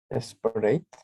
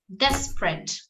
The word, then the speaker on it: desperate: Desperate. Desperate. We don't say desperate, but desperate, okay? Let's see. Desperate. Desperate is only 2 syllables.